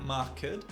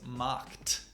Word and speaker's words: marked: The correct pronunciation of this word is “markT”. In this case the “ED” makes the sound of a “T”.